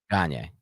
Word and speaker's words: Gagne: Gagne. It's just Gagne, right? Gagne.